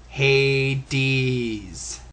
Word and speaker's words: Hades: __ ] your majesty even in the Bible it's pronounced Hades but yeah he says